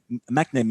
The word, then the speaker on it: McNamee: Je veux voir, je prononce bien ton nom, là, McNamee. Est-ce que c'est ça? McNamee. McNamee, excuse-moi.